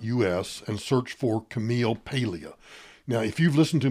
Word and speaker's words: Paglia: to spectator dot Us and search for Camille Paglia now if you've listened to me before you